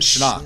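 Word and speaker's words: Schnarch: That's how you pronounce like Schnock. Schnocker. That's how you, that's how you pronounce his name.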